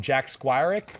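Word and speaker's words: Jack Squirek: raiders victory marcus allen mvp yeah awesome um jack squirrik yes yeah yeah is that i pronounce it the right way nailed it bam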